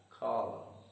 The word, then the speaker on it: column: The next word, column, stress is again on the first syllable and the letter N is silent. That is why we read the word as column.